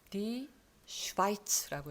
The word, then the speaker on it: Schweiz: 그런데 독일어에서는 I라고 읽어요. 자, 요거는 Die Schweiz라고 읽어요.